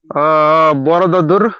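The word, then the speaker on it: Borobudur: Okay, बोरोबुदूर स्तंभ, बोरबुदूर. Okay, बोरोबुदूर. सो pronounce according to your self understanding.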